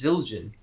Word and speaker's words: Zildjian: I mean I could lie and say yes Zildjian reached up to me right mm-hmm I was like nah it's a cowboy now is it or is it Zildjian it's Zildjian you know my god back then our sins